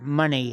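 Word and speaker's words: Moné: TBS Championship off of Mercedes Monae or money as they tend to pronounce it he big old monster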